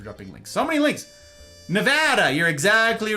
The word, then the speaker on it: Nevada: Nevada. You're exactly right, Silver. That is how you pronounce it.